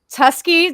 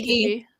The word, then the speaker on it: Tuskegee: Uh, Tuski, Tuskani, I can never pronounce it right. Tuskegee.